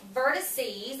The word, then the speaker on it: vertices: say that vert so how many vertices that's how you say it if you say it plural which means more than